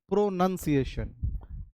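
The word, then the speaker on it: pronunciation: हैं प्रोनंसिएशन प्रोनंसिएशन प्रोनंसिएशन जबकि होता है प्रोनंसिएशन pro none not noun और दूसरा वर्ड देखिएगा ये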